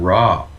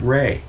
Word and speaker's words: Ra: raw from ancient egypt it's not even raw he pronounces it rey right and he looks